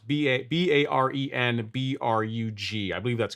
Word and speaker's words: Barenbrug: Look into Behrenbrug. It's spelled like how it sounds, Barenbrug.